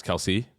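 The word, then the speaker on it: Kelce: so uh it's the Kelsey bull it is the Kelsey ball the close you know the couch ball yeah apparently Jason Travis's last name is supposed to be pronounced Kels no no no e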